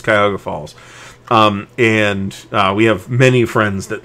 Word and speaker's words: Cuyahoga Falls: She pronounces it for some music-y reason, Cahoga Falls. Nobody calls it Cahoga Falls. It's Cuyahoga Falls.